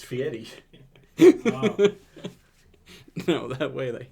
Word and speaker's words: Fieri: I think it's Guy Fieri. I think that's No. how it's pronounced. Well, Okay. you're wrong because it's Fieri.